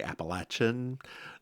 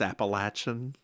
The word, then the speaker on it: Appalachian: So, dear listeners, I want to correct people real quick. You will hear me say Appalachia a lot. You will hear me say Appalachian. That is the proper way to say that word. It is not Appalachia. It's not Appalachian. It's Appalachian. We own the mountains. Get over it.